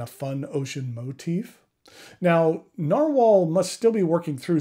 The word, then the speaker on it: Nahvalur: name and while the new name is still pronounced narwhal it has a different